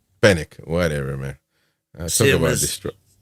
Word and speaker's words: Fenwick: will, uh, relationship with Fenwick. You got something to say about that? Fenix. Oh, there's no W. The W is not pronounced. Just fenic fenic whatever man talk about